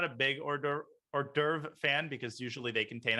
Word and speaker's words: hors d'oeuvre: the entire rook but just you know an ordover and an ordover an order an hors d'oeuvre sorry i just pronounced that i'm betraying my ignorance no no